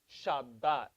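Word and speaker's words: שבת: a bit what why what's the dagesh the dot in the middle it makes it hard so it is spelled shin veda how many baits are there no how many baits are there one there's one bait but how many bees does it count as two shabbat so this is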